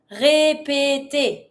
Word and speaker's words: répéter: To repeat, répéter. Same sound for those three syllables. Répéter.